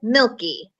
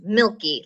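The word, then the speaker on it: Mielke: milky and I will be your teacher this year so yes I said milky m IE llke is pronounced milky like the Milky Way candy bar is usually the way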